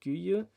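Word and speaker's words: Guiu: Now, Enzo Maresca has got Mark Guyu, or Mark Yu, how you now pronounce it.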